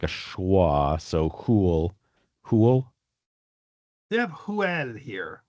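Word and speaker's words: hwyl: Let's see, I don't see anything weird about h's. So, I guess it would be something like hwl. Yes. Hwl. h w y l. Because again, I'll I'll say again, w is sort of like an oo, and the y is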